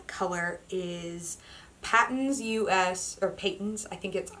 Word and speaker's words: Patons: The main color is Patons US, or Patons, I would pronounce it Patons.